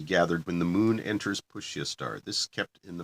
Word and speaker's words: Pushya: The excellent root of white gunja must be gathered when the moon enters Pushya star.